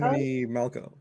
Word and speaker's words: Romany Malco: with Seth Rogen and I'm blanking on it's Romany Malco. Romany Malco. Yeah, I always say his first name wrong.